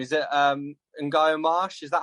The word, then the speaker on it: Ngaio: Is it Ngaio Marsh? Is that how you pronounce it? How do you pronounce it? Ngaio, yeah.